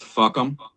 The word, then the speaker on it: FUCAM: And that acronym is FUCAM, which is pronounced fuck'em.